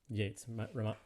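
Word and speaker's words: Yeats: by william butler yates yates rhymes with gates we listened last time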